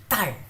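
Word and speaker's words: 딸: And if you say tar with a little bit of stress, it means daughter. So tar.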